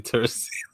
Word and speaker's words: Teresita: The way that I see it is Teresita, like a little Teresa, you know?